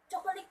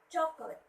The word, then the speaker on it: chocolate: They would say, I would always say, I always hear kids saying, chocolate man. They would say that, which is wrong. Should be chocolate. Chocolate. Chocolate. The stress should be at the first syllable and then chocolate.